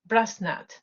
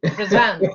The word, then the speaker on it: Brazant: And our last speaker, Brazant, Brasnat. I'm pronouncing it actually. Brazant. That's the. nice attempt though. I like it. But it's Brazant, yeah.